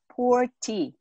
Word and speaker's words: Puer tea: they pronounce this purity poor tea it sounds like a not too good tea right not too good but our purity we call it pure tea okay so you see